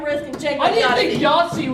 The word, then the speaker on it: Yahtzee: and Jake I think Yahtzee was gonna be in oh yeah it rhymes with Nazi I well I don't